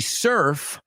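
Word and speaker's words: serf: The surf learned how to surf. Okay, la primera se escribe S-E-R-F, and the second one is surf, as you know.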